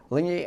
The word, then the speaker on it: Alinghi: You've gotten together with Alinghi, I pronounced that right? Yeah. Alinghi, and you formed the America's Cup team with them.